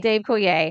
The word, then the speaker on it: Coulier: The constant mystery of is this song about Dave Coulier, who played Joey on Full House? Did I say his name right? Dave Coulier. Dave Coulier.